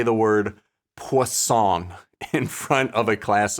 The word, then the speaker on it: Poisson: I guess pan. That is usually what I end up saying, pan. But I still feel like I know I'm doing it wrong, but I don't want to actually say it correctly.